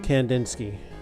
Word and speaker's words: Kandinsky: How do you pronounce his name? Kandinsky.